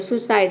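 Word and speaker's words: suicide: नहीं आ रहा है फिर भी हम यहां पे इसको इ प्रोनाउंस नहीं कर रहे यहां पे ऊ प्रोनाउंस कर सुसाइड सुसाइड का मतलब होता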